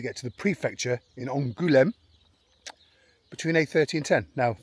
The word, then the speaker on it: Angoulême: Then we need to go to Angoulême. Did I pronounce that right? Angoulême. Apparently I need to have more emphasis on the goût. Angoulême.